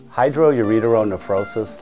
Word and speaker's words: hydroureteronephrosis: a good one hi Hydro I can't even pronounce that hydrosis tropis kosis how do I know Hydro urer nephrosis Hydro uron nephrosis literally means water on the urer and kidney